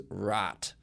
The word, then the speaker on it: Raat: suspense, thriller, horror movement of Bollywood is 1992's Raat. That is spelled R-A-A-T, if you're interested.